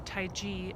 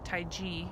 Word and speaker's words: Taiji: Tai Chi is or Taiji as they pronounce it with the G Taiji in the East is